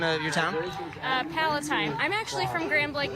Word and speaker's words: Palatine: And how do you pronounce the name of your town? Palatine.